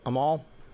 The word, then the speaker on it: Amal: So Amal Clooney, I think that's how you pronounce it, Amal.